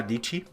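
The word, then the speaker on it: Dietschy: There's a YouTuber that I really like, a young woman called Sarah Dici. It rhymes with Peachy.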